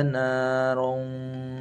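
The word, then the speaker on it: نَارًا: Dilihat di sini ada lafaz naron. Ron tanwin an ketemu za, berarti ikhfa ya, agak mendengung nanti. Kita baca menjadi sayasla narun zata lahab.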